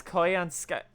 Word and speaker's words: Koyanskaya: It's Koyanskaya. Wait, what? Didn't she say? Koyanskaya. Koyanskaya. That's a weird one. That's pronounced pretty much the same way.